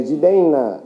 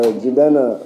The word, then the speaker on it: Jidenna: So Nna, Jidenna. That's how people say it. But I really don't care how you say it. You can say Jidenna or Jidenna, or even in America,